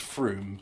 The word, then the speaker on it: Frome: I know it's supposed to be pronounced Froome, but it's like, look, it's from E.